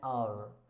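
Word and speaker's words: hour: एन आवर I understand he इज़ to marry blank air इज़। यहां पे ह नहीं पढ़ रहे हैं। यहां पे ए प्रोनंसिएट हो रहा है। एच जो है वो साइलेंट है।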